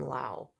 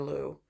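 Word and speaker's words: Lugh: Or in Ireland, I realized they call him Lau.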